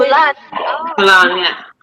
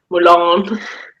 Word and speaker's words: Mulan: How do you say Milan? Mulan, have you did you guys get Once Upon a Time, the TV show over there?